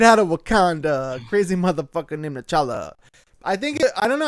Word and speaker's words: T'Challa: T'Challa. Just a T and then Challa. T'Challa.